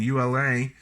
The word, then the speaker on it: Ula: six swiss made zanaya eula diver pronunciation ula u la eula diver automatic 300